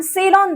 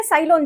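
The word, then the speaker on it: Ceylon: दालचीनी जो मिलती है, उसे हम सेलॉन दालचीनी बोलते हैं या साइललोन जो भी आप इसे प्रोनाउंस करें।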